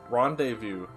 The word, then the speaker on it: rendezvous: silent t there are other words rendezvous because someone is somewhat phonetically just has at least a silent s at the end why are all the